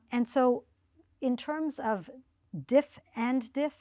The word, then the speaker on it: diff-in-diff: so in terms of diff and diff how do you how do you say it uh diff and diff so uh oh diff and diff yes like chip and Di yeah similar but there's